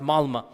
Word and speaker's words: Malmö: Malmö is spelled with an O, but it's pronounced Malmö.